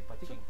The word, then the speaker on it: Pachinko: Así se pronuncia, ¿verdad? ¿Pachinko? Sí, Pachinko.